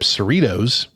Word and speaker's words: Cerritos: crew of the Starship Cerritos rhymes with Fritos or Doritos in the 24th century